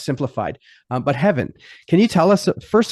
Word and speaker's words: Hefin: Yes, it's spelled with an F, but it's pronounced with a soft V sound. It's Hefin Jones, and he's here to talk about text types with us.